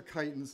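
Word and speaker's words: chiton: right here these are kitens too and it's spelled c h i t o n the chi is pronounced Kai so there's one for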